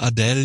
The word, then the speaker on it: Adele: Ja, ich habe ähm, wenn ich das jetzt höre, also ich selber finde Adell jetzt oder wie heißt doch? Adel wird aus wird sie ausgesprochen, ne?